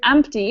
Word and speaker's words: empty: go empty so Maria in the word empty which letter is silent the P yes yeah sometimes do people do say empty without actually pronouncing that P well done any other